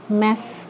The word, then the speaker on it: mass: communication sebagai pendekatan dari mass media communications mengetiknya komunikasi yang menggunakan media massa atau komunikasi massa media tajhma syera istilah eh apa namanya bacanya bukan mas mbak tapi mess communication ya Nes ehem Hai